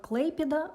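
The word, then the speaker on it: Klaipėda: Autant que je sache, les Lituaniens prononcent ce nom de ville comme Kleipeda, mais je parlerai comme j'en ai l'habitude et comme tous les russophones en ont l'habitude.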